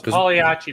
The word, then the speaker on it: Pagliacci: And Bill, it's Pagliacci pizza, by the way. The G is silent. Oh, Pagliacci pizza.